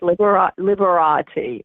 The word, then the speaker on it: Liberati: to check it out it is liberati is it pronounced liberated yes liberati uh-huh liberating l-i-b-e-r dot com and go to